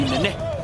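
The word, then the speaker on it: Nenê: Now, if you're wondering on pronunciation, that would be Nene.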